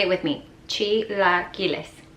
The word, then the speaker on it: chilaquiles: every brunch and you never know how to pronounce it. That's right, chilaquiles. Say it with me, chilaquiles. Chilaquiles.